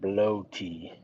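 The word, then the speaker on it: blót: It is pronounced bloaty. Bloat. Sounds like the German word for blood.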